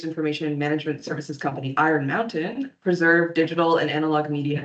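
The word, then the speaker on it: Mount10: The US-based information management services company Iron Mountain preserved digital and analog media in a nuke-proof underground vault in Pennsylvania. The Swiss-based data bunker complex called Mount 10, pronounced Mountain, specializes in long-term storage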